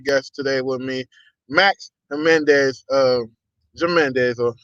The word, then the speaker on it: Jimenez: I got a very special guest today with me, Max Jimenez. Jimenez or Jimenez. How you say it? I messed Jimenez. up. Just act Jimenez. like the Okay. J, just like the J's and H, man.